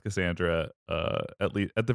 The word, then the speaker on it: Cassandra: a regular C so um but it is pronounced Cassandra uh at Le at the very least colloquially